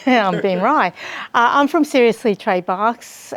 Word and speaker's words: Rey: correct people because you know people say Ben Ray yeah I'm being Rye I'm from seriously trade box and it's my